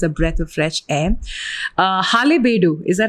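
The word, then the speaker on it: Halebidu: Halebedu, is that how you pronounce it?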